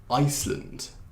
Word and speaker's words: Iceland: 그래서 주로 land 그 나라 이름에 land 맨 뒤에 있으면 land이라고 하지 말고 그냥 lund이라고 발음하는 거예요. 그래서 Scotland, Iceland.